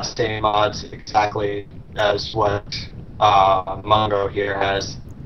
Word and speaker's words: Mungo: mods exactly as what Mungo here has. Say it right, it's Mungo, not Mungo.